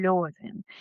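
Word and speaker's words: Levin: do personagem principal masculino, Constantin Leven também é pronunciado como Constantin Loven. Existe essa possibilidade, mas para mim o mais, eu tô mais acostumada com Constantino Leven e vou falar ah e vou falar Leven.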